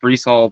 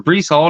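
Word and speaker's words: Breece Hall: I believe it's pronounced Brees Hall, the defensive end for the Jets.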